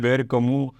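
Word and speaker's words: Camus: yeah yeah uh so Albert kamu says H kamu which is the correct pronunciation the French French guy yeah he said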